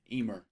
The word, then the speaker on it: Eimear: Eimear. Did I say it right? You did. Eimear.